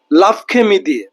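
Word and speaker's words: l'après-midi: লাভখেমিদি।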